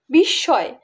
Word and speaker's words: বিস্ময়: যেমন বিস্ময়, বিস্ময় দুইবার আমরা স উচ্চারণ করছি, অর্থাৎ ময়ের জায়গায় আমরা স উচ্চারণ করছি।